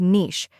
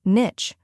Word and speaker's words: niche: The most common pronunciation is niche, rhyming with sheesh, but some people also say niche, rhyming with itch. While both are recognized, niche is the more widely accepted pronunciation, especially in formal settings.